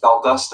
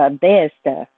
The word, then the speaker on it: Valdosta: Valdosta, I think, is the way that it's actually pronounced.